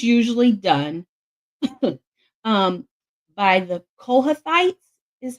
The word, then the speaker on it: Kohathites: okay this was usually done um by the kohathites is how it's pronounced they usually carry the arc the Levites